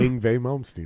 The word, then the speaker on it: Yngwie Malmsteen: I never pronounce his name right, by the way. You said it right. If you Yngwie Malmsteen, right?